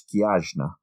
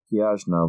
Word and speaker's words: Cneajna: That one I did check with my... I've got a Romanian friend. So that name is spelled Cneajna. I couldn't even begin to say it's Kiajna. Kiajna was what she was called.